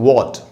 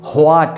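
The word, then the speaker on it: what: वॉट का मतलब है क्या, तो इसको यहाँ पर W के बाद H है, तो यहाँ पर H साइलेंट, इसको व्हाट नहीं, ह का साउंड नहीं आएगा, व्हाट नहीं बोलेंगे, वॉट।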